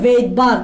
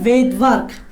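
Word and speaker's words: Svedberg: হয়, ওনার নাম হচ্ছে ভেইটবার্গ। এখানে এমনি অ্যাকচুয়ালি এসটা উচ্চারণ হয় না, উচ্চারণ করার সময় এসটা উচ্চারণ হয় না, লেখার সময় এস লিখতে হবে।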